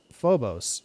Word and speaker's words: Phobos: oh there's a well Phobos ancient Greek pronounced Phobos meaning fear is the personification